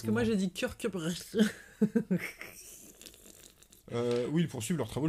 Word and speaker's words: Kirkcudbright: Kirkcudbright.